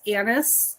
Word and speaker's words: Annis: So yeah, it's Annis, and it's been mispronounced my whole life, but I can promise you I am not a rectum.